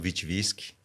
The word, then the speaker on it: Witwytzkyj: sobrenome boa noite Rafael é o meu nome completo é vitniski claro que é a pronúncia a gente é muito